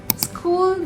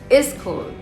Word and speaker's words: school: Many people add extra sounds without realizing it. For example, school becomes is school. film becomes film. This happens because your brain is trying to make the word easier. But in English, words are often shorter and sharper. So instead of adding sounds, focus on saying the word cleanly. Say it slowly. School. School. Not is school.